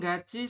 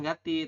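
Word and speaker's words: 같이: Gachi ini kan tulisannya gati ya. Anda bacanya jangan gati, tapi dibacanya gachi.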